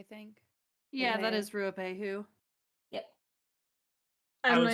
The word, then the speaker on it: Ruapehu: Ruapehu, I think. Yeah, that Yeah. is Ruapehu.